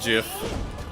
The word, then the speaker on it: GIF: Uh, it's it's GIF. You can complain about cry about all you want. Uh, I say it like peanut butter cuz I like peanut butter.